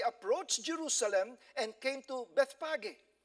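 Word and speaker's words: Bethphage: Jerusalem and came to Bethpage before I thought it's Bethpage but when I was in Israel the way they pronounce it it's best Aggie all right on the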